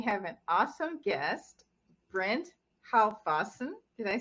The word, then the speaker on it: Halfwassen: made it all American now. As we ditched the Dutch and the German. It's just Halfwassen. Okay. He's not German. I think you used the German pronunciation there.